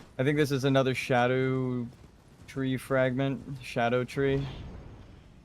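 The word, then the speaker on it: Scadutree: I think this is another shadow tree fragment. Shadow tree. For anyone wondering why I pronounce it like that, it is a Old English word and spelling of shadow, where the word shadow originates from, which ties it into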